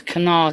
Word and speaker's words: Kanawha: Yeah, and it's Kanawha County.